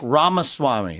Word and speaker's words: Ramaswamy: in the building Vivek Rama Swami did I say it right that's actually pretty good it's better than most yeah it's like Rama Swami like CD-ROM but yeah what I